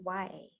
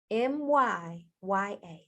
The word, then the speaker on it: Myya: Of course, Myya is spelled Myya, no A. So it's not Maya, okay? Myya, 2 Y's, 1 A.